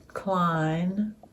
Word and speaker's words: Klein: Klein. Like Calvin without the money.